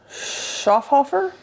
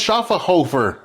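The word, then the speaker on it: Schöfferhofer: apologize we don't know oh it's pronounced schaer Hofer schaer Hofer schaer Hofer schaer Hofer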